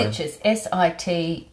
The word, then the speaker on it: Sitges: Yeah, Sitges.